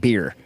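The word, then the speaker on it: Byrrh: Burr another one of it's actually pronounced beer but it's also unspell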